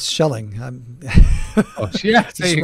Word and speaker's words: Schelling: The concept was introduced by the American economist Thomas Shea. If I pronounce it right. I bet it's Thomas Schelling.